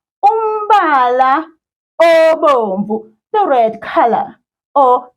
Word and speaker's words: umbala: The next part of our isiZulu classroom board is umbala of the week. And umbala is a color. The word color in isiZulu. Let's repeat after me. Ba la ba la. It's 3 syllables.